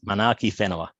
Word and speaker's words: Manaaki Whenua: WH in Maori is pronounced with an F. So it's Manaaki Whenua research. So just when you see WH in New Zealand or in Maori, it's fit. So Manaaki Whenua is land care research in Maori.